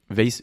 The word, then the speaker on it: Weiss: Et allez suivre Weiss, W-E-I-S-S. Ouais. Ok, et je prononce bien?